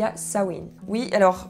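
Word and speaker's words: Samhain: où il y a sawin oui alors je sais que les prononciations ne vont pas avec comment ça s'écrit j'y peux rien donc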